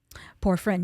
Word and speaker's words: porphyrin: Forephrine? Porphyrin, yes, Porphyrin.